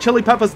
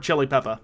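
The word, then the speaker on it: Xhilipeppa: is a slon called lord chili Peppa yep but it's spelled uh x h i l i p e p p a i think sack that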